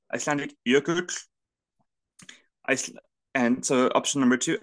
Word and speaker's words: Jökull: There's Icelandic jökull. Oh, hang on. Hedvig, as the Icelandic adjacent person. Jökull? Actually, I can pronounce it, actually.